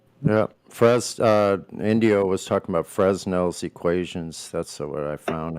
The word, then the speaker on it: Fresnel: It's pronounced Fresnel.